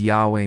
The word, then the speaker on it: Yahweh: The sacred tetetrogrammaton pronounced as Yahweh means I am who I am or I will be what I will be.